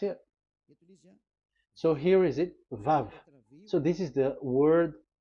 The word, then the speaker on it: Vav: We called it as VAV. VAV. Your mouth is like closed. VAV. So it's V as in Vogue.